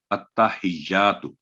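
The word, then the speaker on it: التحيات: تا پر تشدید ہے، پھر ہا کے نیچے زیر ہے کسرہ، پھر جا پر تشدید ہے، التحیات، تو کی آواز 1 سیکنڈ کی آواز لمبی ہوگی. تو یہ ہے اس کا صحیح تلفظ.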